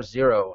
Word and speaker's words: Xero: z00 Z note that we spell that with an X not with a z uh we are not Xerox misspelled we are zero and uh we are